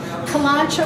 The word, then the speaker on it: Kalanchoe: Kalanchoe or kalanchoe, depends on your pronunciation, same plant.